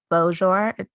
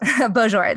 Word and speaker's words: Beaujour: right to be don to be joined by tom boshore no i messed that up yep okay i said it right yeah bonjour the author of nothing